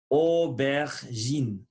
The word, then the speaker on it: aubergine: Le lettre J va sonner J. Aubergine.